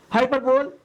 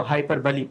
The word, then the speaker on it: hyperbole: हाइपरबल को कई लोगों ने अलग-अलग तरीके से जो है प्रोनाउंस किया है। मेरे एक टीचर थे इसे वो हाइपरबिक पढ़ते थे। व्हाटएवर देखिएगा वैसे हाइपरब में मेरे टीचर ने मुझे हाइपरबल सिखाया था।